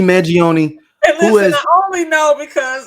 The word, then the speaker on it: Mangione: had it written down isn't it Manion Manion yes Luigi Manion listen I only know